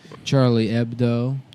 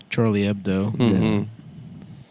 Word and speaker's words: Charlie Hebdo: Charlie Ebdo. Charlie Ebdo. Of course, you say, "Why don't you pronounce the H?"